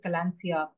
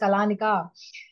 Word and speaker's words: Kalaneca: common word in fact we had so many people pronounce it as kalania hello I speaking to ra from kalania and we like oh no it's kalika so we realize we are